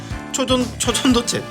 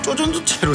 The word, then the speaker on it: 초전도체: 초전도체 자꾸 쪼전도체로 되는 거예요.